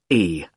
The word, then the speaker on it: Carlisle: It's Carlisle. You don't pronounce the S.